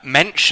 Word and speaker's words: Mensch: You'll be correcting me all over the place, which is absolutely fine, because you've written this book, Mensch. Am I pronouncing that right to start with? Yes, absolutely.